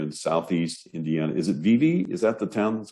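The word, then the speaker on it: Vevay: small rural area in southeast indiana is it vivi is that the town that's close by did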